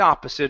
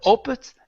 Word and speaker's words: opposite: Instead of oppus, it's a a a opposite. Opposite. Good. The exact opposite.